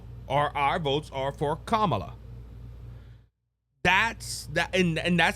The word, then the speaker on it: Kamala: It has always been pronounced Kamala. People constantly saying it wrong doesn't make it right.